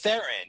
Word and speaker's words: Theron: i wrong is it thrawn or were you pronouncing it well it's therein it's charlie starring okay so we thought it was charlize theron and like i thought it was charlie's throne my entire life pretty much because i'm a